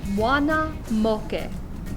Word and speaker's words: Muana Moke: pronounce them in english all of your a's are pronounced ah o is pronounced with a pure round o and e's are pronounced e this initial phrase all together is moana moke so here behind me